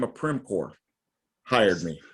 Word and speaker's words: Primcorp: a great company named by the name of Primcorp hired me. Spell it.